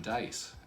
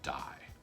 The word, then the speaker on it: DIE: i only get one dice and saul who is the the master of the game says you're you're saying it wrong it's called die and so they all